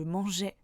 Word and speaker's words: mangeais: Et bien pourtant, le E de je dans un mot ne se prononce pas. Par exemple, je mangerai ou encore je mangeais. Ou alors avec le prénom Georges.